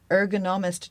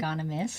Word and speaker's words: ergonomist: Can you tell us a bit about that role and what an ergonomist does, and if I'm pronouncing that correctly. Ergonomist.